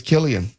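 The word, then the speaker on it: Cillian: I I just assumed it was Silian. I've never heard him correct someone and say it's Killian. I was going to say I've never actually heard anyone really pronounce his name in general, right? So it's it's it's understandable that you would just think Silian, but I guess it's Killian and and I'm going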